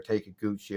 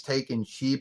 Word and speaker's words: Takeuchi: And I don't really know that much about Naoko Takeuchi or Naoko Takeuchi or Takeuchi. Or I like to say it's Takeuchi because that's the way it's spelled.